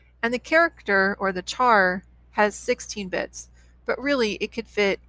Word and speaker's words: char: you see a char c-h-a-r it's short for character and you may hear some people pronounce it as a care short for character i'll just call it